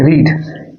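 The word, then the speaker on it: read: जब रीड का यूज एज अ V2 और V3 यानी कि पास्ट टेंस में या पास्ट पार्टिसिपल टेंस में होता है, तब इसके प्रोनाउंसिएशन में चेंज हो जाते हैं, तब उसको हम लोग रेड पढ़ते हैं।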